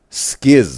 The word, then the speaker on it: SKZ: and penises in YouTube chat that skz is pronounced as ski by the way. Okay. Okay. Skiis. I thought it was just an abbrevation for stray kids. All right. Skiis.